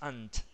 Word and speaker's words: ant: No es ant, sino que es ant. Ant. Porque Todas las que son. terminen con T tienen que sonar pronunciadas fuertes.